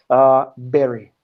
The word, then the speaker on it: bury: And I was talking about the pronunciation because when you read this, like when you look at this, it's like booty, but it's like berry, you know, strawberry, the same sound.